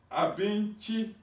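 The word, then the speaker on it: abinci: Now, Abinchi, you see the word, the letter C is pronounced Chi in the GUOSA, and that is food.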